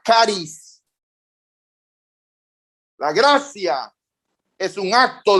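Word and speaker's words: χάρις: Del idioma griego, la palabra gracia se escribe charis, pero se pronuncia caris.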